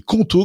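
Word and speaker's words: Qonto: Choisissez conto, ça s'écrit Q O N T O pour vous lancer.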